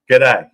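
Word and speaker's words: G'day: brother a good day that's how you say it over Y in Australia good day it's like g d y KDAY you know you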